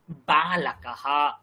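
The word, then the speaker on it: বালকঃ: bomb বালক উচ্চারণ করুন বালাকাহা বালাকাহা দুটো ঠোঁট জোরে উচ্চারণ করতে হবে বালাকাহা দুটো ঠোঁট জোরে উচ্চারণ করতে হবে বালাকাহা কিন্তু যদি বলি বিদ্যালয় দুটো ঠোঁট জোড়ার কোন প্রয়োজন জন্য নেই বিদ্যালয়হা বিদ্যালয়হা তো বালাকাহা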